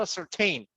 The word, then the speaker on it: ascertain: something, yes, maybe you ascertain. You ascertain. So in this case, it becomes a verb and pronunciation tain. Yes, some verbs are very tricky, Just by adding one letter, the pronunciation will change. This is an example.